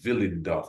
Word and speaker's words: Willendorf: It's spelled with a W, but you know how it is with the German language, Willendorf.